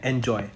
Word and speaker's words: Anjoy: किया जिसका नाम है एंजॉय। हम एंजॉय कैसे लिखते हैं, ANJOY, तो यहाँ पे आई आ गया। प्रोनाउंसिएशन सेम रहेगी तो बोलने में आसान होता है, एंजॉय, बच्चे एंजॉय करते हैं।